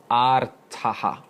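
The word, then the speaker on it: ārtaḥ: And the first type being artaha. It's a long A at the beginning, artaha.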